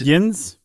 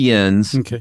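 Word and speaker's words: Jens: Is it pronounced Yins? It's definitely Yens, but it's also Jeb and not Yeb.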